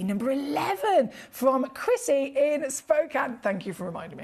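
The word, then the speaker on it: Spokane: wait to see number 11 from Chrissy in Spokan thank you for reminding me how to say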